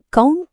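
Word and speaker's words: कौन: உன் பெயர் என்ன அடுத்தது கான் இதோட அர்த்தம் யார் ஒரு சின்ன உச்சரிப்பட்ட பெண்ணா எழுதும்போது கான் இருந்தாலும் பேசும்போது நிறைய பேர் இதை கோன் அப்படின்னுதான் சொல்லுவாங்க. இதோ ஒரு சிம்பிளான உதாரணம். கவுன் புலா ரஹாஹ அப்படின்னா யார்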